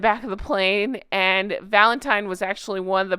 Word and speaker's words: Valentine: I knew somebody named Valentine And so I always pronounce this wrong. I apologize for the 100 times I'm going to say Valentine. I'm thinking of my friend. It's Valentine. Let me try that again.